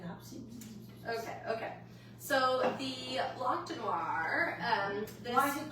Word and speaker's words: Blanc de Noirs: So it's not noir because noir would be one grape, and it's Blanc de Noirs because, but you don't pronounce it. So it's a Blanc de Noir.